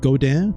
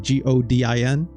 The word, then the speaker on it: Godin: It's called Godin, like Godin.